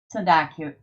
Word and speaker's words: sanduda: All right, we have six of the nine sanduda. It's pronounced like barracuda.